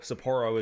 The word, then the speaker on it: Sapporo: Sapporo is the proper pronunciation.